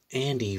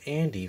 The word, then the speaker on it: Andie: through the voices of andy for for the nut job franchise well andy uses she because her name was spelled a and d i and with this silent e actually but anyhow so the